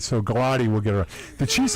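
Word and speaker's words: Gillotte: But he's got to get his hands up a little bit, and Galati has done a nice job of is that how you say his name? Gelati.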